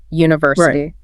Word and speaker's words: university: Those ending in in Asia like university. The stress tends to land on the third syllable from the end.